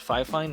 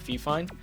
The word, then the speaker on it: FIFINE: I learned that it's pronounced FIFINE, not FIFINE, so if I say